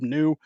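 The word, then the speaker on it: Kinew: since wob I know I always say wob kinu some people say it's pronounced wob new um I've heard the media Outlets pronounce it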